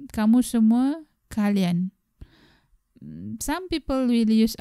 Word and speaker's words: semua: Normally, we will add another word, which is semua, S-E-M-U-A. It is pronounced as semua.